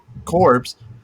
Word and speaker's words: corps: And one of the corps, is that how you say it? Corps? Yeah, one of the corps. Yeah, yeah. Yeah. Core. So one of the corps Like like accidentally went off, and CORE, they ended but up it's spelled fighting like the entire CORPS.